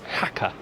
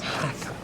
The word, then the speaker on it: Jaca: And we had it confirmed. Officially, that is Jaca. Yes. Jaca. Always best to ask, I find. Ask the locals, they know what they're talking about. Yeah.